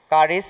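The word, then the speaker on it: χάρις: এটা একটা গ্রিক শব্দ, এটা বলা হয়েছে যে উচ্চারণ কারিস।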